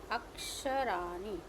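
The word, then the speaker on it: अक्षराणि: I'm sorry, aksharani. I'm putting in the naam, below the naam I'm putting the dot, because in Sanskrit it has a different sound.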